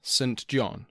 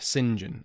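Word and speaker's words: St John: present as an mp oliver saint john or oliver singen as it is apparently pronounced this oliver singean was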